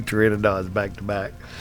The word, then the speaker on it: Pteranodon: I just lost 2 Pteranodons back to back. I call them pterodons, but Pteranodons is what they really called.